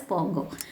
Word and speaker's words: Pongo: N is silent here, you have to read it as Pongo.